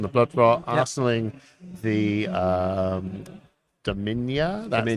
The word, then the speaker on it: Dominia: Arsenaling the Dominia.